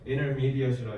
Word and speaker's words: intermediate: intermediate라고 해야 돼.